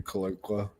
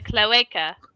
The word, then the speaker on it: cloaca: I don't know what you have stuffed in your cloaca. It's a cloaca. I know. I mispronounced it on purpose.